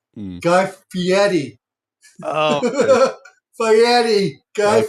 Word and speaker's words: Fieri: time Ferrari, You're the first one to correct Ferrari. me. That's fine. If anybody's gonna correct you, it'd be me. I knew I Fieri. was saying it all wrong. I suck at pronunciations. You're fine. It's Fieri.